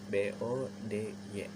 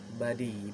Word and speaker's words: body: B-O-D-Y. Body, dibacanya ya body, bukan body. Body gitu. O-nya kita lupakan sejenak, jadi kita ubah jadi A gitu.